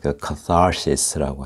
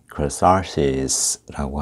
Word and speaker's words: catharsis: 울면 catharsis라고 하죠. catharsis. 우리 한국에서 외래 어떻게 발음해요? 카타르시스라고 하나요? 적어드릴까요? catharsis. 영어식 발음으로는 catharsis라고 하는데요.